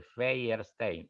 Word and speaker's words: Feierstein: le resultaba muy difícil por el triptongo de Feyerstein, E-I-E.